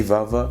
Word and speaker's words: vava: La bouche, ça se dit vava, V-A-V-A, simple.